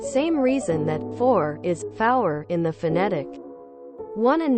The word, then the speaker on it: five: getting them mixed up 0 one tree F pronounced like sour five 2 6 7 and